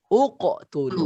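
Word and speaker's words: اقْتُلُوا: Bacanya adalah uqtulu. Kenapa uqtulu? Karena mengikuti huruf hidup setelahnya. Yaitu huruf hidup setelahnya itu ada huruf ta, di atasnya ada dhammah.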